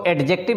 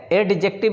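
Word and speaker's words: adjective: ठीक है, इसको एडजेक्टिव नहीं पढ़ेंगे, डी को साइलेंट करके पढ़ेंगे, एडजेक्टिव। ठीक है, एडजेक्टिव नहीं पढ़ेंगे, एडजेक्टिव पढ़ेंगे।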